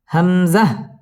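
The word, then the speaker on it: همزة: আলিফ পরিমাণ টেনে পড়বো হামজাহ হামজাহ কোন টান হবে না হামজাহ ইয়া ইয়া ওয়াও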